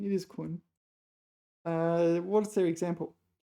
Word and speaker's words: 捆: How do you pronounce that one? 捆. It is 捆.